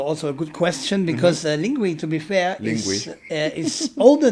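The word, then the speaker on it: Linguee: Is it called Lingue or is it Ling? Lingui. Lingui. Yes. So I've always been pronouncing it as Lingue.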